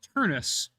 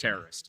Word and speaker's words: Turnus: Christmas, Aiden Squared, and it's pronounced Turnus. Turnus. Got it. Okay, so Okay. Patrick Turnus. Thank Not you very Patrick much. Terrorist. Yeah. What I said? He said Patrick Terrorist. I said Patrick Turnus.